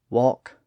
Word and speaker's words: walk: That environment caused the L sound to be lost in words like talk, walk, chalk, folk, yoke, half, calf, behalf, salve, calm, and balm.